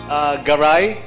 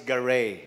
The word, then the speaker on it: Garay: Garre so that's how they pronounce it here in the Philippines but since I live now in the US for 21 years my last name now is Garre okay so Garre so